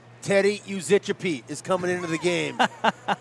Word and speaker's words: Yuzicappi: I'm always a fan for the Teddys, but Uzichapete, spelled Yuzicappi. And looking at it, not exactly how I would pronounce it.